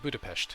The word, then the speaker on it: Budapest: Like Budapest is a good example. Nobody says the st sound at the end of it.